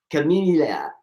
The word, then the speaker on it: Kimimila: I said chameleia. But how do you say your name? Chamilia.